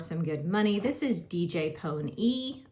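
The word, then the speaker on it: DJ Pon-3: This is DJ Pony. I know it says DJ Pawn 3, but they pronounce it DJ Pony.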